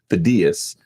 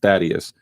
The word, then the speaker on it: Thaddaeus: So my name is actually pronounced Thaddaeus, which is the Greek pronunciation versus Thaddeus.